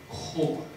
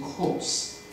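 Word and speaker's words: corps: China core. Core is a French word. French word the consonants at the end are silent. So China youth core is not China youth course.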